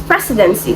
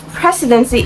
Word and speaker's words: precedency: Now this question is under word stress and the word is precedency. So the answer to this question is option D. It is stressed on the first syllable.